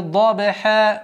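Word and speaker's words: ضبحا: «Вал-а-ди-я-ти дабиха дод». «Дабиха», «дабиха», «да», «б» – мягкий звук, но «калькаля» нужно применять полноценным образом. И потом получается «дабиха», «дабиха», «ха» – гортанный звук.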